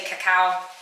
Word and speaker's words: cacao: Some people say cacao, however you want to pronounce it.